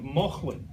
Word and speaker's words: Mauchline: latter half of that included the town of Mauchline. That's how you pronounce this, the town of Mauchline in Ayrshire, where Robert Burns wrote almost every single word that anybody remembers.